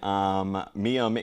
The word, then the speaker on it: Mayim: And then Mayim is, I believe that's how you say it?